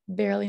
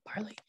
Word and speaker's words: barely: Sorry, that's barely, not barley.